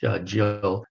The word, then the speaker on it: gill: quarter a quarter Gill it's spelled g i l but I believe it's pronounced Jill uh which is about